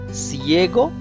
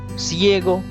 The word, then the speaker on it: ciego: c la latra say if say is followed by i or e the pronunciation changes to sir like for example siego sine because these are the c is followed by i la pronunciation is like cna like cinema ciego means blind okay rest